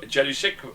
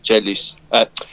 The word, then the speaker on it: Jelusick: I think the pronunciation is something like Jelusic is what I think it would be, or something like that.